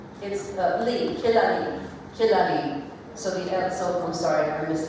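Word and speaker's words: Kalaallit: Down on measure 4, the top buzz actually starts, and it's Kilali. It's instead of L-I-T, it's Li. So you could write in L-E-E below, if that helps you, but it's Kilali.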